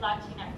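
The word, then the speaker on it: Latinx: Latinex. Did I get it right? Latinex. Yeah. So, it rhymes with Kleenex.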